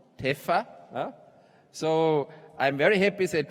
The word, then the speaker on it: TEPPFA: This award is kindly sponsored by TEPPFA, pronounced TEFA.